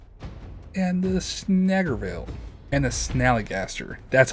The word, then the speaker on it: Snallygaster: And the Snallygaster. That's how you say it, Snallygaster.